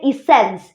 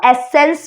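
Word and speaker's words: essence: इज so friends next हमारे पास है इसेंस या फिर कई लोग इसको एसेंस भी प्रोनाउंस करते हैं और इसका अर्थ होता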